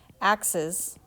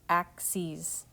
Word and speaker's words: axes: It looks like you're saying axes, like the tool, but it's not. It's pronounced axes.